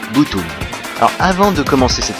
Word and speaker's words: Btooom!: Aujourd'hui je vais vous présenter un animé qui, bien qu'il s'écrive BT3ON, se prononce comme l'onomatopée japonaise de l'explosion Butoon.